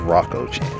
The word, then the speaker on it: Rokko: channel which is it might be actually rocco chan i never actually thought about it but it could have been meant to be pronounced as rocco either way it's a